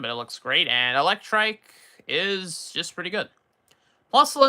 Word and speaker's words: Electrike: Electric, or Electrike, and Manectric? I think that's how you pronounce the first one. Yeah, Electrike. Electrike is fine enough, B.